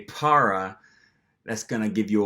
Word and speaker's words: para: So a very easy trick for learning to pronounce this word correctly is to start off by saying the English word Potter, as in Harry Potter.